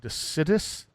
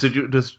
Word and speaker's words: deciduous: It's I never know how to say this word, decidus? Decidous. Deciduous. Thank you.